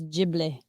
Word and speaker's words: Ghibli: Zatanna typed it out phonetically for me. It's Ghibli. The Ghibli studio.